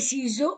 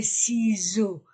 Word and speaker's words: ciseaux: voyelles les chaises les ciseaux au pluriel toujours les ciseaux s entre deux voyelles Z regardez x la gomme